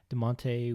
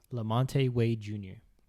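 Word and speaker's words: LaMonte Wade Jr.: i don't believe he's a rookie after all de monte wait uh what's his name wade junior let me get his actual name so make sure i pronounce it right his name is lamonte wade jr hell of a debut and then we had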